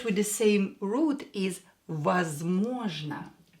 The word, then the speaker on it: возможно: A word with the same root is возможно. Возможно. Возможно. So we have можно here, we add was, and it is возможно. As always, O, when O is not stressed, pronounce it as A.